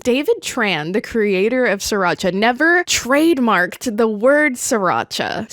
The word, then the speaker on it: Sriracha: legality of it, because Sriracha is actually a town in Vietnam, which is correctly pronounced Sriracha, but the American pronunciation is Sriracha, and he says that either way is fine. Sriracha is just the way the city is pronounced. Or if you're my dad, for some reason, you say Sir Cha-Cha.